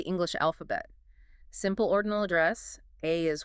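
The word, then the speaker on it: 愛: The Japanese kanji for love is pronounced ai and traditionally it requires exactly 13 brush strokes to write.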